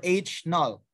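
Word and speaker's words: H₀: by h0 or hn pronounced as ho or h null the alternative hypothesis is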